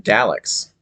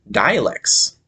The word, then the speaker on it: Daleks: So I would always call them Daleks, but my friend would call them dialects, which I thought sounded like isn't that like a regional uh, pronunciation of words, like having a dialect. So I thought that was strange that he said it that way.